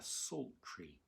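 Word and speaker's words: psaltery: a very simple instrument it's called a salt tree and it's spelt with a p strangely so p s a l t e r y it's also sometimes called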